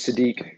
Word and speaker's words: Sadiq: My name is Sadiq. That's how you pronounce it.